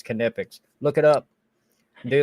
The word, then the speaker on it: Knipex: the K is not silent. It's pronounced Knipex. It's a last name. It's a German name. The K ain't silent. People say it with the silent K, but it's Knipex.